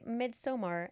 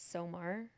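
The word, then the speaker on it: Midsommar: Very midsomar after dark. Monica said, "Is that how you say it?" Midsummer. No. No. Mid I think it's Somar.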